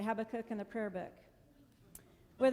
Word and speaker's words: Habakkuk: I've heard it three different ways today but I say Habakkuk, Who knows how to say it? It rhymes with prayer book though. That's why I say Habakkuk in the prayer book.